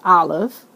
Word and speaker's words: Aleph: So the first letter of the Hebrew alphabet, which is Aleph, it's pronounced Aleph.